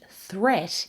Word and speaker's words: threat: And threat is actually pronounced with the short vowel e, just like pet. Threat. They rhyme with sweet and straight and debt.